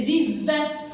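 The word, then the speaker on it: vivent: Vive, alors V avec I. V avec E, N, T, c'est vive. Alors le NT, ils sont muettes ici.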